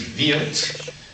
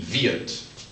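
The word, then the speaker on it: wird: which in German is V and even though it ends in a d you pronounce it almost like a t VI we will is VI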